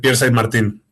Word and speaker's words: Pierre Saint Martin: to Spanish um my my name that is French. So, I say Pierre Saint Martin. That's the way that I that I use it. Okay, so Pierre Saint Martin is a film